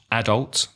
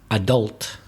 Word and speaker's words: adult: In British English, adult. I am an adult. And American, adult, stressing the second syllable.